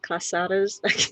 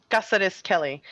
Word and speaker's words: Cázares-Kelly: we call you recorder because cassadas i'm not saying it right quesada's kelly or or just gabriella gabriella is fine and it's it's cassares kelly uh gabriela casares kelly